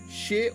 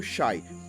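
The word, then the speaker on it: Sídhe: O povo das fadas era originalmente conhecido como povo Cid, e isso se pronuncia como She ou Shai.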